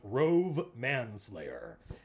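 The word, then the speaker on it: Rhuobhe Manslayer: It's pronounced Rove Manslayer.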